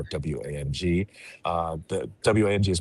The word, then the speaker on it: Wang: The Wang is pronounced Wang, even though it's spelled Wang, it's pronounced Wang.